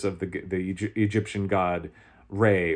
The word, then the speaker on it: Ra: the the Egyptian god Ray or raah depending on how you you're pronouncing it they think it's Ray but that those